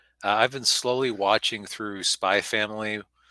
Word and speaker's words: Spy x Family: been slowly watching through Spy Family. It's spelled Spy X Family, but it's apparently you're supposed to leave out the X because Japanese anime titles are confusing.